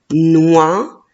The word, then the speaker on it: noix: premier mot oui c'est le mot noah n'a oies noires et la lettre x à la fin je la prononce pas faisons le découpage syllabique